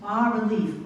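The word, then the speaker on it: bas-relief: And I use bas relief. Bas is a French word, so you don't pronounce this.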